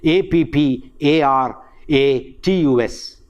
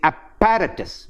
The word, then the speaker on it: apparatus: correct pronunciation is sama same thing happens in a p p a r a t u s we say apparatus no it is apparatus apparatus no doubling of the sound per in english but